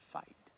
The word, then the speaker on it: fight: Sounds like a F-Y-T-E. Fight. Fight. But you got a G right there. But it's a silent G again. The G-H is like silent, like a light, right, a right, slight. But it's a G-H, and it's silent, and usually.